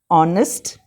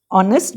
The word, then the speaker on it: honest: She is an honest person. Again, note an. I have used an honest because H is silent.